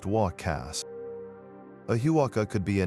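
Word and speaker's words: huaca: They recognized specific places as huakas, pronounced walkcast.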